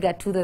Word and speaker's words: Gathuto: I like how you emphasize the people, because I personally know for a fact, yes, I said Gathuto the first time I met you.